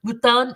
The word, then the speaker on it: mouton: Mouton is how you say it in French.